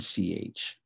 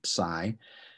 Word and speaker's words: psi: in chemical or christ and then psi or c depending on how people i'm i'm going to say psi in these and this is a ps sound as in steps steps and uh or first